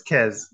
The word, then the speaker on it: Kirz: because how do you how do you pronounce your name so we pronounce it the right way it's kez kez okay so is